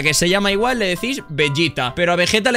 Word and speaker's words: Vegeta: ball aquí estábamos bebé si queremos pronunciarlo como en japonés sería bellita pero en ningún caso vegueta su sombrero vegueta el